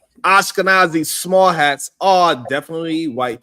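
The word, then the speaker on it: Ashkenazi: Oh man, how we pronounce that? Ashkanazi. Ashkanazi.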